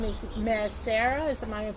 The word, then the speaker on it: Maeresera: Talking about the Yemenites, I know that your last name is Maeresera. Am I pronouncing it correct? Yeah, Maeresera. Maeresera.